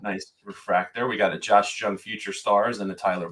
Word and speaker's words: Jung: So, it's a J but said like a Y.